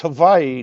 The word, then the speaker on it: Hawaii: Like like I tell people, it's it's Hawaii, not Hawaii. The W is with the W is actually pronounced like a V.